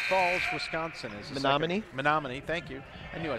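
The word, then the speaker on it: Menomonee: Zach Zavada ready to check in, the 6'4" freshman out of Menominee Falls, Wisconsin. Menominee, thank you.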